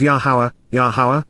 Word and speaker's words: Yahowah: nature, the abundance, value, and rewarding gift, of Yahowah, the proper pronunciation of the name of Eloah, God has